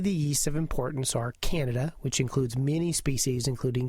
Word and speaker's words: Candida: It's Candida, by the way, not Candida, which is sort of a George Bernard Shaw play, nor is it pronounced Canada, which is the country up north.